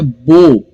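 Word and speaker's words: bow: सो यहां पर भी 3 लेटर्स है लेकिन प्रोनाउंसिएशन सिर्फ 2 ही लेटर्स का करेंगे, बो, ब ओ, बो। लिखना डब्ल्यू भी वहां पर है, सो बी ओ डब्ल्यू बो।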